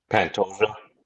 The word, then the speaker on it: Pantoja: I'm just not pronouncing it right. Say his name. Pantoia.